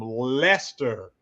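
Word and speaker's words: Leicester: They are from It doesn't look like Lester. It's got some C's, E, I's, and S and all that, but they are from Lester, um, England.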